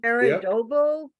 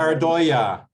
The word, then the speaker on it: pareidolia: Paradobo, is that how you say it? Paradobo? Pareidolia.